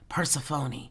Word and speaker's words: Persephone: Persephone. Don't ask me how to spell it.